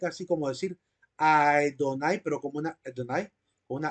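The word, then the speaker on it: אֲדֹנָי: de que al menos la primera sílaba del nombre de Dios comienza con un sonido de a por qué lo decimos bueno Qué palabra es la que nos ayuda a tener esa certeza ya la vamos a mencionar aquí aparece la palabra señor verdad Adonai Adonai con una letra a ae así como decir Adonai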